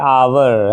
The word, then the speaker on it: hour: क्यों? क्योंकि इसका साउंड क्या आ रहा है? आवर, है ना, आवर। वैसे शुद्ध उच्चारण तो होता है आर, है ना, तो आर या आवर कहिए तो वहाँ पर जो है इसलिए एन लगा।